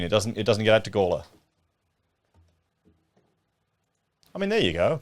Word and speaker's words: Gawler: Is it Gawler or Gawler? Gawler. Of course, I'm saying it wrong.